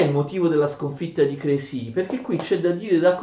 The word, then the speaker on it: Crécy: duramente nella battaglia di Crécy, che si scrive Crécy con questo accento sulla E, però è francese, naturalmente si pronuncia Crécy, d'accordo?